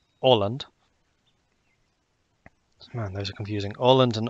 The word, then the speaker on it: Åland: Åland and Åland. I think he still pronounced that as an O. Because that A with the circle above it is pronounced like an O as well.